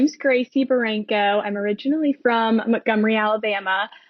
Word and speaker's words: Barranco: And today I have one of my fabulous mentors, Gracie Barranco. Did I say that right? Yep, that's right. I'm terrible at pronouncing names.